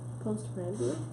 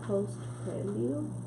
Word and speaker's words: postprandial: You know, what's that word postpran? After you eat. Well, how do you say it? Postprandial. Yeah. Huh? Postprandial.